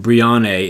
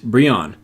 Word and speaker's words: Brionne: and Moon trailer and assumed that Brionne is how this was supposed to be pronounced. Fortunately, for Pokemon fans everywhere, I was wrong, and the proper pronunciation is, in fact, Brionne. Fans of the Pokemon Sun